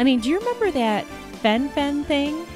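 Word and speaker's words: fen-phen: do you remember that Fen Fen thing I think that's the way it's pronounced fenfen everybody was all excited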